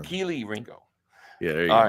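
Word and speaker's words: Kelee Ringo: Everyone's like, "It's not," because you always call him Kylie. You say Kylie Ringo all the time. Keely Ringo.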